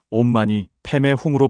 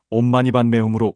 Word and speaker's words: 옴마니반메훔: 그리고 옴. 마니, 반매, 훔.이 소리들이 도대체 무슨 뜻일까요? 많은 분들이 궁금해하시는 부분입니다. 사실이 여섯 글자는 산스크리트어로 온만이 파드의 훔이라고 읽습니다. 티베트에서는 온만이 패의 훔으로 발음하고 우리나라에서는 온만이반 매움으로 음역했습니다.